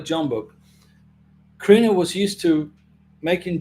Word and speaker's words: Jumbo: Now, J, the letter J is not pronounced in Spanish, so it's umbo, but I call it Jumbo.